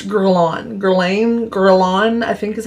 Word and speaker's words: Guerlain: Guerlain, I think is how you say it.